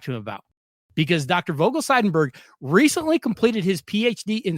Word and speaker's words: Vogel-Seidenberg: I want to make sure I pronounce this correctly. Dr. Vogel Seidenberg.